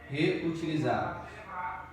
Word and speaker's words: reutilizáveis: Reutilizáveis. Separar aqui, ó. Reutilizáveis. Aqui nós vemos que a penúltima sílaba é a tônica. Então é uma paroxítona.